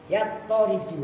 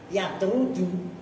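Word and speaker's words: يطرد: membuang huruf yang mengejerkan yattaridu awas harokatin toknya tasdid yattaridu itu maknanya berlaku ittirad. Kalau kalian bacanya yatrudu menolak. Kemarin kan saya ini yattaridu, nah itu harus kalian latih juga.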